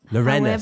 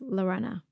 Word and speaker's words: Lorena: Lorena. Sorry, I've got your pronunciation wrong. It's okay. In England, people call me Lorena. Lorena. My name's actually pronounced Lorenna.